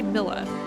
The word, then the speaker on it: Milla: milla is the only myla milla how am i going to pronounce her name i'm going to say milla because it's like vanilla but not um but she is